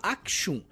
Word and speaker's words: Axum: mais importantes impérios africanos algumas pessoas pronunciam diferente elas pronunciam aum ou akum mas eu vou falar aum mesmo porque eu acho que é mais adequado com a nossa língua mas enfim eu não